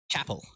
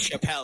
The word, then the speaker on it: Chappell: chapel R new singers I thought it was Chapelle like you see it and it looks like Chappelle because of the double p and the Double L so Chael uh but there's no e at the end so I guess it that's cuts off that end and it's just travel